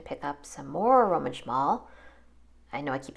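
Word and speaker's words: Szmal: just going to pick up some more Roman shal I know I keep saying that name it's spelled s z m a l and so that's pronounced shal I didn't know that until I watched a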